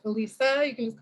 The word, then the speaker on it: Allyssa: For the question, again, my name is pronounced Alyssa.